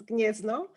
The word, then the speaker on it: Gniezno: Oh, sorry, I should pronounce that. Wow, of course. Will I be able? Okay, so the first one is Gniezno, the second one is Krakow, and the third one is Warsaw.